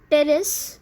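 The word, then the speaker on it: Pteris: Okay, now examples are forms like nephrolepis, Marsilea, Terrace, here P is silent, okay.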